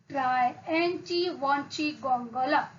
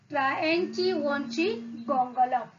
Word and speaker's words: Triantiwontigongolope: But at the end, he once again asks the reader to pronounce the name Try-Enchi Wanchi Gongola.